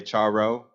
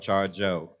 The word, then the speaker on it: Charjo: People say Charo. I'm not Charo, I'm Charjo. So if you could help a brother out, pass it on to the next person you hear say it wrong.